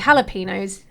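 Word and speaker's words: jalapeños: could be like why like jalapenos a that's a j but you pronounce it with a h i I wonder why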